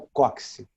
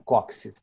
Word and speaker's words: cóccix: Esse osso é o cóccix, ou cóccix, porque tem X no final, é assim que se escreve.